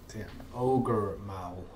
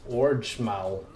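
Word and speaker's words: Ogre Maul: My pronunciation of this immortal king's mao. I said orge mao. Made the I mixed up the R and the G, orange instead of ogre.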